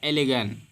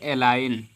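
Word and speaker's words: align: यहाँ पे लिखा है एलिगन। क्या लिखा है? एलिगन। लेकिन इसको पढ़ेंगे एलाइन, क्योंकि जी को नहीं पढ़ते हैं।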